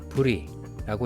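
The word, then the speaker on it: Brut: 당도를 나타내는 부리가 보입니다 클리코 티를 발음하지 않았던 것처럼 브리도 티를 발음하지 않고 부리라고 읽으시면 됩니다 제일 하단에 작은 글씨는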